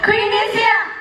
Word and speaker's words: QViNT: ชัด ๆ นะ คะ QV I N G อ่าน ว่า Queen นั่น เอง ค่ะ ว้าว